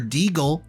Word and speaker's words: Deagle: guys well no wonder deagle rhymes with beagle cuz he's a dog